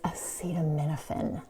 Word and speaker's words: acetaminophen: And one more thing, it's acetaminophen. That's how you say it.